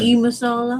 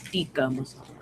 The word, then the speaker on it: tikka masala: You say Dalton. tiki masala, and it's tikka masala.